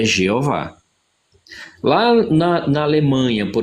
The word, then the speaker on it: Jeová: Brasil português a forma mais apropriada de se pronunciar e escrever é jeová lá na na Alemanha por exemplo a pronúncia